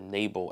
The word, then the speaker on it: Nabal: But but we see in chapter 25 um this interaction with uh Nabal or Nabal as I think one um translation pronounces it.